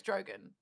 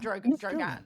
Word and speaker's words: Drogon: I'm sure it's I'm sure it's I'm sure it's Drogon, not Dro Dan.